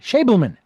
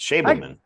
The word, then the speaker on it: Schabelman: and it is again pronounced Schabelman, Schabelman. Yes, I Schabelman.